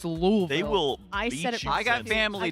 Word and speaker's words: Louisville: louville got to make sure you hit that lville yeah I said it wrong and my dad was like it's louville they will I got family down there I